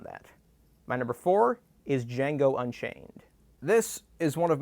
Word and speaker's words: Django: django what's your name django can you spell it d j a n g o the d is silent i know seriously look